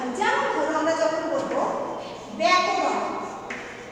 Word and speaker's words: ব্যাকরণ: যেমন ধরো আমরা যখন বলবো ব্যাকরণ, ব্যাকরণ কিভাবে উচ্চারণ হচ্ছে ব্যা, বয়ে জফলা আকার, অর্থাৎ এই যে বয়ে বসন্ত যুক্ত তারপর দেখো ব জফলা আকার, জফলা তার সাথে আকার দিয়ে ব্যা, এই যে উচ্চারণটা এটা জফলা আকার দিয়ে এর উচ্চারণ হয়।